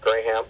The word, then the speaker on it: Graham: And then the second one, which sounds kind of gross, but it's gray, Gray, ham, Ham, two words. Graham.